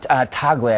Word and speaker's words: Tagle: Tagle, I believe it's pronounced. Luis Antonio Tagle, who's from Manila, Philippines.